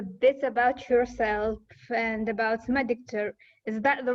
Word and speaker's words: Mediktor: So, if you could just tell us a bit about yourself and about Mediktor, is that the right pronunciation? Yes, Mediktor.